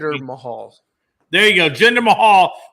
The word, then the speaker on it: Jinder Mahal: And I know I said his name wrong, Logan. You correct me. Jinder Mahal.